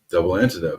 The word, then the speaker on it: Double Antidote: I love it and how do you say double antidot double antidote oh so I'm saying